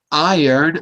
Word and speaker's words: iron: money perfect 100% correct so the r is silence and the O is an R sound strange but true yes he a strange